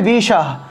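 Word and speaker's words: বিষঃ: সকলা বিষ হারানায় স্বাহা, এখানে দেখুন একটি বিসর্গ আছে, আর বিসর্গটা যেহেতু একটা লাইনের মাঝখানে আছে, তাহলে বিষাহ উচ্চারণ হবে বিষাহ, বিষাহ হটা উজ্জ্বল রূপে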